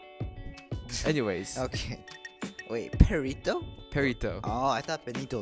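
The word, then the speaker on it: perrito: Perito. Oh, I thought Benito like Mussolini. No, No, it's Perito. Perito, like, Oh. it's pronounced that way in Spanish.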